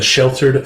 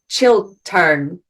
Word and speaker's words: Chiltern: Yes, it's like children, but it's with a T. Chiltern. It's similar word to children. It's called after its street. So it's on Chiltern Street, and it used to be a fire brigade house.